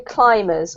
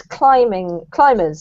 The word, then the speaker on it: climbers: This one here is a silent B. So there's no B in the word, there's no sound of a B in the word climb or in climbers or climbing. It's as if the B wasn't there. So it's climbers, sorry.